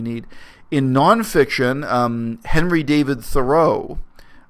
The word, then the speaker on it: Thoreau: In nonfiction, Henry David Thoreau, the historically correct pronunciation of his name is Henry David Thoreau, but everyone says Henri David Thoreau.